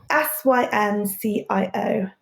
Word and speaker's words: Syncio: Synceo has been a savior. And how are we spelling Synceo? Syncio. Literally as it's spelled.